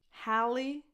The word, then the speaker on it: Halle: Halle, ha, same vowel that you have in bad, cat, hat, ha, lee. Lee. Tense E, as in the word eat. Halle Berry. Her first name and her last name end with the exact same vowel, a tense E sound.